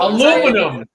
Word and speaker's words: aluminum: Aluminum.